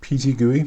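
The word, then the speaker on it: PTGui: show stitching for stitching there's a program called PG goey that's how you say it it's uh it's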